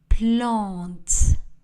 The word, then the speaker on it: plantes: Les plantes. Le S de pluriel n'est pas prononcé.